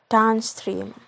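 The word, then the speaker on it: downstream: on the first word like in a word down stream the stream is primary stress and town is secondary stress the last is if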